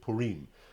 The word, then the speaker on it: Purim: celebrated than Tu B'Shvat, and that is the holiday of Purim. Some people pronounce it Purim.